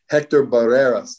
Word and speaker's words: Hector Barreras: documentary on this guy hector barreras is how you say his name yeah a wonderful guy